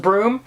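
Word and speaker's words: Bruttenholm: is spelled and uh it's actually pronounced broom so anyway um it's spelled like brutin Holm brol yeah so this is a pronounced broom it's pronounced broom which we're told in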